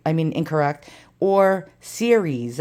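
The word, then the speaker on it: Ceres: I mean incorrect or series I think no not like Siri on your phone I think it was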